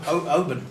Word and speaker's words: Oban: Oban. Is that how you say it? Oban. Open. Well, you pointed it. We go Oban. It's open. Oban. Right. That's it. A bun's what Baker makes.